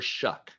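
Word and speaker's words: Shough: Quarterback, guy by the name of Tyler Shuck. It's spelled completely different. So if you want to know what you're talking about, say Tyler Shuck when you're talking about him.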